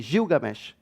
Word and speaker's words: Gilgamesh: tenemos algún ejemplo está ahí la epopeya de gilgamesh se dice así se pronuncia siendo en español esta historia que está